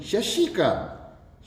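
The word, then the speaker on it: शशांक: शशंकित, शशंकित नहीं, शशंक, इसका सीधा होगा शशंक, शंकित होता ही नहीं।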